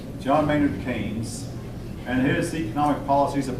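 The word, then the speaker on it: Keynes: man's name John Mayor it looks like it's pronounced ke but it's actually pronounced KES John mayard KES and his economic policies have been followed by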